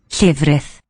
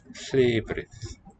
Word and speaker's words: llefrith: Llefrith. Llef. Long vowel. Llefrith. Llefrith.